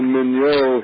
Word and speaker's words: Mignot: Emmanuel Mignot here at Stanford, MIGNOT, he discovered or identified the narcolepsy gene.